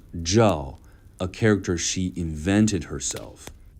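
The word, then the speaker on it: 曌: One famous example was the character she chose for her own name, Ji, pronounced Zhao, a character she invented herself.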